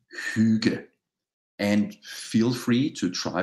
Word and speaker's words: Hygge: The word itself, Hygge, is pronounced Hygge. And feel free to try to pronounce it with me. I'm going to say it four or five more times here now. Hygge.